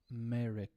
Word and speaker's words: America: if you listen to when people pronounce America if I say it very slow I'll say uh America so I'm saying uh Mary K and this is something